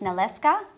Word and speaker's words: Nalewka: It's pronounced Nalewka, Babuni honey.